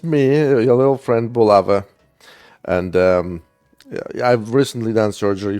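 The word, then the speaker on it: Булава: Well, technically, it's Bulava, but English speakers are too lazy to pronounce it correctly, and nobody knows how to say it.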